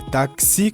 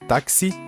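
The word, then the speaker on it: taxi: Aqui é táxi, som de KISS, KS, som de KS, táxi, ex-novia ou ex-novio, que é ex-namorado ou ex-namorada, né?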